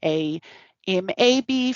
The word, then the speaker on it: AMAB: as for afab and amab those are um pronunciations of the acronyms a m a b for amab and a f a b for afab and they just mean assigned